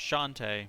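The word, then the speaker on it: Chauntea: I think it's pronounced Shantae, but it's C-H.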